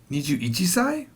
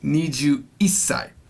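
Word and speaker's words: 二十一歳: niju is it niju niju ichisai no because remember it's no there's no such thing as ichisai it's niju isai at the making of this video i am 43.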